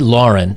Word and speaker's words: Lahren: of time and what this is is tomi lauren or lauren i believe i'm pronouncing that right tomi lahren is a like a news correspondent or pundit